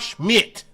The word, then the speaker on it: Schmidt: There ain't nobody, he ain't Clark shit. He Clark Schmidt. Get it right. Say his name right before I slap the taste out your mouth. Say his name right. It's Clark Schmidt. Not shit. Okay?